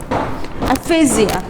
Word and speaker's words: aphasia: know about a particular disorder that is aasia a phasia it sounds like epia okay ephesia just try to pronounce it Aphasia Aphasia Aphasia so Aphasia is